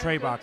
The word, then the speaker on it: Trarbach: Shauna Trarbach, is that how you pronounce her name? Trebach, yeah.